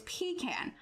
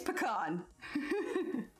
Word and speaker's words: pecan: pronunciation or or us uk does say pecan but as the pecan derives from my region i'm gonna go with mine it sounds weird your